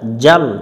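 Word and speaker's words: ذال: করে পড়তে হয় উত্তর জাল অক্ষর জিহ্বার আগা থেকে নরম করে পড়তে এটা জাল শক্ত করা যাবে না বা জাল শক্ত করা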